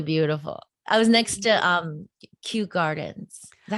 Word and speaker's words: Kew Gardens: I was next to Kew Gardens. Is that how you say it? Yes, Kew Gardens is lovely there.